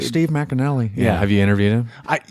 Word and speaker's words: McAnally: McAnally? Steve McAnally.